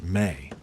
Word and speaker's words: me: But instead of praising human creativity, the text describes Nisaba as the one who revealed the ME, the ME, pronounced may.